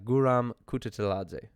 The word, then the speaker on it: Guram Kutateladze: good grief oh man i know how to pronounce the name and i heard it a bunch uh guram kututeladze the georgian viking uh this